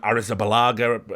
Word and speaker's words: Arrizabalaga: I can never say his name, Arrizabalaga, I think it's pronounced.